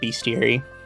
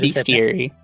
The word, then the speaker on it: Bestiary: Uh, also Atari chat says, "Atari, you're in a company called Beastier." What do you mean? They're the besties. Beastiary. Uh, you pronounce it Beastiary.